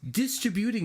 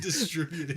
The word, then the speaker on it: distributing: It's distributing it out. You know, why? That felt weird. Distributing. The emphasis on the You put the syllables. emphasis on the wrong syllable.